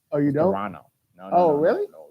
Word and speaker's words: Toronto: You don't pronounce the T at the end. Oh, you don't? Toronto.